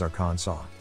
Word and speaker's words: Arkansas: it's really pronounced as our khan song the final s is silent if you plan to